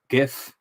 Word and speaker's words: GIF: GIF. GIF? I've heard people say GIF though, which is weird. GIF. Yeah. As if it's a J rather than a G.